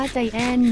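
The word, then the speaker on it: Giant: กุก ผิด ชื่อ กุ G I A N T อ่าน ว่า ใจ แอน กู จะ อ่าน ว่า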